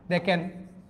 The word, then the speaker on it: দুঃখ: মাঝখানে যদি বিসর্গ থাকে ওই বিসর্গটা যে বর্ণের পরেটা থাকবে, বিসর্গের পরে যে বর্ণটা থাকবে সেটা 2 বার উচ্চারণ হবে। এখানে লিখছি দুঃখ, দেখেন দুঃখ, তার মানে কি বিসর্গটা উচ্চারণ হয় না।